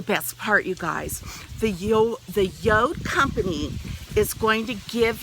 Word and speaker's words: Jord: And the first one is I want to re-mention this beautiful Yode watch. I recently was emailed by the company from the Yode. It's pronounced Y-O-D-E, and it's from Norse language, Norse tradition, and the word Yod stands for earth.